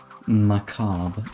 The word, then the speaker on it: Macabre: Um this is 73 and the song is called um that song was called dance macob. Now this is a fun level. Macob as in it's a weird spelling.